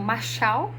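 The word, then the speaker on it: משל: tá lendo tá provérbios ele é uma palavra Hebraica né que se pronuncia como Marchal e o significado né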